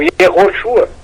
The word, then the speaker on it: Yehoshua: Não somos contra o nome do Senhor Jesus Cristo no hebraico antigo, Yehoshua, que essa é a pronúncia mais correta.